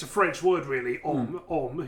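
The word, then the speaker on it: Homme: Om is how the French would say it.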